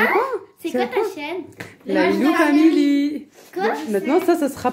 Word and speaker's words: Lailou: Et en fait, ça s'écrit L-A-I-L-A. Et mon surnom, c'est Lailou, quand j'étais petite.